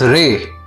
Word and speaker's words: レ: The R-row sounds are Ra, Ri, Ru, Re, Ro. This is Ra. This is Ri. This is Ru. This is Re. And this is Ro.